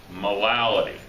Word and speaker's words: molality: All right, we've all talked about molarity, but now we're going to talk about molality. Okay, it's not me mispronouncing it.